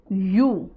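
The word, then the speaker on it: ewe: Pronunciation क्या है? यू, यू, मादा भेड़ को यू कहते हैं।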